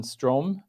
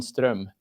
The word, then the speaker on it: Ström: how I mean um English speakers would pronounce it stro but uh if you happen to speak Swedish it would be strum which is um somewhat different let me try